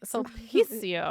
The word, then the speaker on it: Sulpicio: Sulpicio. It's all about the Lines. emphasis on this right A company syllable.